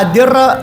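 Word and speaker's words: أدرّ: Wa adirra lana dhar'a, wa adirra bacanya wa adir, pakai bitasydid ra, dengan dibaca tasydid ra-nya. Wa adirra, Wa adir lana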